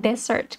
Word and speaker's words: desert: เรียน เรา อ่าน ว่า Desert ค่ะ แต่ ถ้า เป็น ขนม หวาน เรา อ่าน ว่า dessert นะ คะ ที่ ไหน เอ่ย